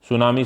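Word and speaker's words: tsunami: सुनामी शब्द जो है वह किस भाषा से लिया गया है? सुनामी शब्द के अंदर जो टी है वह साइलेंट होता है और यह लिया गया है जापानी भाषा से।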